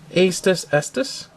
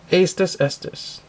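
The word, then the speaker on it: Aestus Estus: The name is Astus Estus. I don't know, that's how you pronounce it. It's kind of like you're saying it twice, but the first, what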